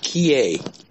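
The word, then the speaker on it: 帰依: The word is, it's pronounced kie, K-I-E.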